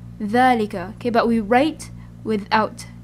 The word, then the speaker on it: ذلك: No alif, but it is pronounced as if it has alif. Okay, that's just how we pronounce it. So instead of ذلك, we pronounce it as ذلك. ذلك.